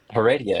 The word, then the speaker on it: Heredia: I actually don't know how to pronounce your last name. Heredia. Is that how you say it? Heredia.